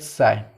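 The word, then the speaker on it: ψ: त्रिशूल मतलब ये साई है, साई, PSHI, साई। इसको मैं प्रोनाउंस कर रहा हूँ साई के तरह से, ओके, ठीक है।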